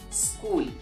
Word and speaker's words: school: So the letter H remains silent in the word school.